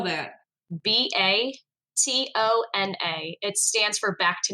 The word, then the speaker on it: Batona: to start connecting section me how do you spell that b a t o n a it stands for Back to Nature oh batona